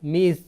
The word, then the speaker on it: Ms: Pronounce মানে উচ্চারণ, মিস, MIZ, মিস, অর্থাৎ MS এর উচ্চারণ হবে মিস।